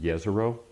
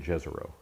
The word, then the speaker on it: Jezero: Now I'm calling it Jezero. It's actually named after a city in Croatian. It's pronounced Jezero. But the NASA folks have been saying Jezero. So Okay. I'm just saying Jezero.